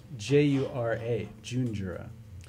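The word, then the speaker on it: Junjura: I just switched the syllables around. This is coming out. Is it what the name? June Jura, J-U-N-J-U-R-A, June Jura.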